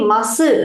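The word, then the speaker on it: ます: This is actually masu, right? But we will pronounce it as mas. The u is silent. Masu also you can say, no problem. But Tokyo slang, we stick on with the workplace. So it is mas. If you say masu also, no issues, right?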